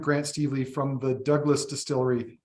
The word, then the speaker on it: Dubh Glas: today our friend Grant Steve Lee from the Douglas Distillery spelled dub glass but it's pronounced Douglas distillery in the Okanagan has joined us uh